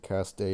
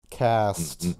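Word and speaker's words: caste: ] does that matter vern if you actually pronounce it cast day i'm going to skin you alive that is how it's pronounced right cast no it happens english is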